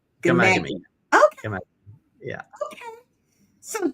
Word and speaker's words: Ghaemaghamy: Well, listen, you can call me, but it's pronounced Ghaemaghamy, kind of a silent H. So, yeah, it's kind of tricky. Ghaemaghamy. Ghaemaghamy.